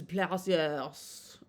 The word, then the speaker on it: plaisir: In France, it is said as plaisir. Plaisir. Plaisir. Yes, it's only Plaisir. one S, so it sounds like a Z.